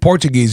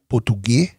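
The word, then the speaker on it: Português: you guys's native language portuges Portugues Portuguese that's how you say Portugues Portuguese yeah in real we kind of exchange the S to X so that's the only city only state that's how you guys you pronounce the S as a x yeah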